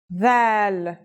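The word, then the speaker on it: ذ: This letter's pronunciation is a voiced sound, the, as in this or that. It's pronounced with the tongue between the upper and the lower teeth.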